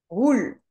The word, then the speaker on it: roule: Roule. Pas rule. Roule. Roule.